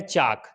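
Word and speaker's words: chalk: जैसे के का एग्जाम्पल है चाक, के से पहले अगर एल आ जाता है तो साइलेंट हो जाता है।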